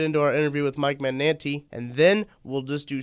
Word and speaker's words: Magnante: My dad was a high school teacher, which is going to the way I say it now. He just said three syllables. My grandmother, the correct way to say it is Magnante. Ooh, this is Italian.